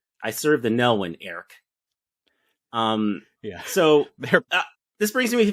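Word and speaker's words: Airk: And he clearly says Eric. It's one syllable. I serve the Nelwyn, Eric.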